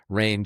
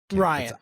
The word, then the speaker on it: Rian: Abrams, Rain Johnson, and then J.J. Abrams again. Or is it Ryan? Ryan Johnson. Ryan, I think it's pronounced right. It looks like it's R I an Ryan.